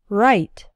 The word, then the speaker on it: write: the past participle written the i in write is like in the words night and bite write but the i in